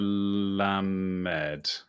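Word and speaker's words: למד: okay so so this is this is the lamb med yes exactly yes yeah la mede and now i guess you can practice writing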